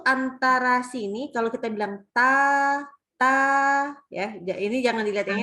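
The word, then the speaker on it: ت: Nah, sehingga jadi dua huruf ini istifal dan infitah itu membuat hurufnya ta itu tipis bacanya. Nah, kan bukan to, kan gitu ya, bukan tebal, bukan to, tapi ta, gitu ya.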